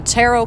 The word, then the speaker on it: tarot: most aside from the tarot cards or some people pronounce it taro so there's no right or wrong i've heard it both